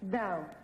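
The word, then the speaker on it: dhow: Dow. Dow. I always Yes. want to know how to spell it.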